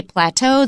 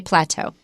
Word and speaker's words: plateau: We say plateau, the Brits say plateau.